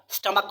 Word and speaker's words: stomach: ये आपका पेट है, ये बेली है आपका, स्टमक बोलते हैं ना, स्टमक, STOMACH, स्टमक। भाई स्पेलिंग भी लिख देते हैं ताकि आप समझ जाएं, समझ जाएगा स्टमक की स्पेलिंग, ठीक है।